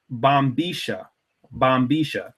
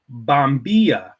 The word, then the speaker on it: bombilla: that I pronounce it Boma is because I was living in uh buen Osiris the city of Bomar of Argentina and they have a distinct dialect there it's called the porteno dialect okay now that's the